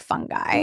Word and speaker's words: fungi: I will tell you some people in the movie it's online you can watch it for free say fungi like with a soft G.